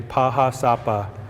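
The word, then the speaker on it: Pahá Sápa: ourselves lakota dakota nakota in our language we say pahasapa or the black hills and this is where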